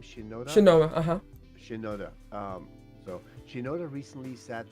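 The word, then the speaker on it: Mike Shinoda: motivating factor for M was how do you pronounce his name Shinoda Shin uhuh Shinoda um so Shinoda recently sat down to discuss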